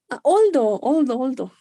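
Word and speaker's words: although: Oldo. It's here. Es una palabra muy, muy importante. Here, right? Oldo. Ay, pero no soy buena para marcar. Ahí, oldo. Oldo means aunque. Se pronuncia oldo.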